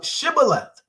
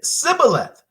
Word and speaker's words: Shibboleth: Then said they unto him, "Say now Shibboleth." And he said, "Sibboleth." For he could not frame to pronounce it right.